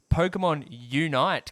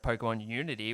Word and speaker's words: Pokémon Unite: I've been thinking about this game for so long, and also, fun note, pronouncing it wrong for so long. Pokemon Unite came out instead of Pokemon Unity, which I was calling it for about a year.